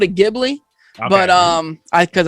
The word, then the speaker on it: Ghibli: also hear people say jeebly so i don't know brad what is it i've always called it ghibli but um i cuz i think the h is silent but also tango kind